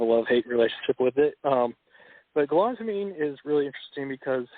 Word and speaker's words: galantamine: Am I pronouncing it right? It's galantamine? Yeah, galantamine.